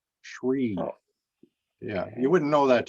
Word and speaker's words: Sri: should mention that that it looks like it's sri but it's actually pronounced as shri shree yeah you wouldn't know